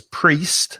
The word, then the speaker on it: priest: connection between these words priest be careful of the pronunciation there's an ie but the vowel sound is e so it's priest not priest priest minister vicar pastor